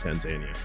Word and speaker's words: Tanzania: Tanzania, dude. I forgot about Tanzania or Tanzania. I'm sorry. It's actually pronounced Tanzania.